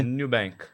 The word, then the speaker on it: Nubank: Como é que é a pronúncia aqui? Nubank.